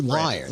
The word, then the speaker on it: Lyon: Well, I'm calling you Lion, right? Yeah.